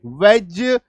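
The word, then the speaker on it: wedge: लेकिन नहीं भाई साहब, इसका उच्चारण ज होता है। तो LODGE laws, FRIDGE fridge, HDGE हेज, WDGE वेज, PLDGE प्लेज, DODGE डॉज।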